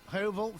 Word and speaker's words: Hovell: How do you say I'm feeling. Hovell? Hovell, fabulous. Like the shape.